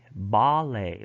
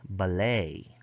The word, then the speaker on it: ballet: French borrowing tend to have end stress in American English but front stress in British English. So in British English, front stress. So they would pronounce this as pate, ballet. But in American English, they have N stress, so therefore they would pronounce this pate, ballet.